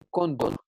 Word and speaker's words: cóndor: Entonces yo puedo llegar acá y decir cóndor.